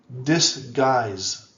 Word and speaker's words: disguise: mad describe describe describe disguise disguise disguise disguise so you see here the end it's a z sound z z sound disguise honor honor honor oh